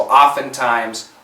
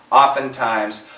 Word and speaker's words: oftentimes: most Americans we cancel oftentimes oftentimes oftentimes this is actually one word it's one word and oftentimes he opts okay the T is silent the S kills the